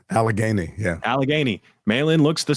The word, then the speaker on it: Allegheny: Allegheny, yeah.